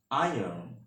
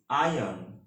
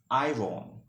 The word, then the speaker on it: iron: word is iron in american english the correct pronunciation of this word is iron and in british english the correct pronunciation of this word is iron okay but don't pronounce of this word is iron okay which is not a correct pronunciation that's